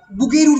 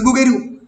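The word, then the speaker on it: Bouguereau: Cubism মানুষের ধরো যে আমরা আগে, তোমরা যদি বুগেরুর ফিগার দেখো, তোমরা কেউ বুগেরুর নাম শুনেছ? একাডেমিজমের জন্ম বুগেরু, বিওইউ, বানানটা খুব শক্ত, বুগেরু, বানানটাই ভুল লিখেছি দেখো।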